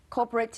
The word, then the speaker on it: corporate: corporate 就是公司 right？但是呢，常常同学会拿这两个字来问我，跟 cooperate 说这两个是一样的吗？So can we spell that, please?